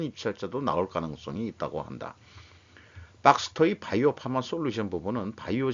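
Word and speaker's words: Baxter: 서머 피셔 독점 셀트리온 벡터 백스터의 바이오 파마 단위 소스 경쟁 요게 이제 무슨 뜻인가 읽어봤더니 의료기기 업체인 박스터라고 발음해야 돼.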